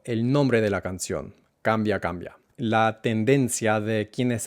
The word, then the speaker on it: cambia: O como digo la brevedad, cambia, cambia, cambia, porque ojo, esta palabra solo tiene dos sílabas, cambia, cambia. No es cambia, sino cambia, cambia.